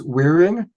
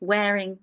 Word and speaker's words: Waring: So it's Waring? Yes, Waring. That's perfect. Waring. Okay. So not wearing, but wearing. Just wearing.